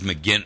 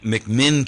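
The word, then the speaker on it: McMinn: and told me that it was mcin mcmin County not mcin it's mcmin County in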